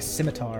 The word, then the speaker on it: scimitar: Or as I used to pronounce it when I was a child reading fantasy books, because that's the kind of nerd I was. Skimiter. I'm not even joking, that's how I thought it was pronounced.